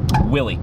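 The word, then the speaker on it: Willeh: So his name is going to be Willie, right? But it's going to be spelled how Willie from The Simpsons says it. So W-I-L-L-E-H. So when you say his name, you've got to say it like, Willie!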